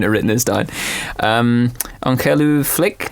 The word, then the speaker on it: ongelooflik: written this down um on flick no yeah that's good yeah so like as opposed to it's yeah that's that's good yeah maybe a five out of 10 for my pronunciation it's it's unbelievable it's a translation unb okay Uncle llick okay I I'll practice that